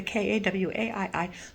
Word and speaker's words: kawaii: So anything that's got Japanese tags on it and has that kawaii look, I don't even know if I pronounced that right, but the K-A-W-A-I-I look, like kawaii, like Hawaii, kawaii look, I will pick up.